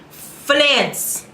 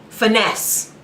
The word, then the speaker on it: Finesse: next track after that finance that's not how you pronounce it how the do you pronounce it again finesse there we go finesse there's an Aerosmith song